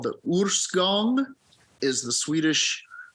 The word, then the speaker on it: Årsgång: It looks like Årsgång, which is also funny. But it's Årsgång.